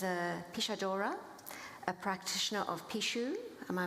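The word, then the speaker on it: pixo: Ineri is a Pishadora, a practitioner of Pishu. Am I pronouncing that correctly?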